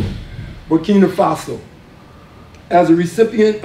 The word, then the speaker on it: Ouagadougou: Ouagadougou. Ouagadougou.